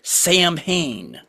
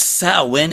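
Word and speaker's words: Samhain: But when uh oh they're talking about that that word, you know what they they they pronounced it Sam Hayne like it's a person like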